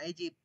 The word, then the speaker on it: aegypti: Egypt Bacanya Egypt. Yang aku bilang Egypt. Iya, Egypt. Ini nah. Bukan Ini kan LPG, bukan LPG, Egypt.